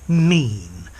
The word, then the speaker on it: mien: Yeah, the pronunciation of this word is mean, as in what do you mean?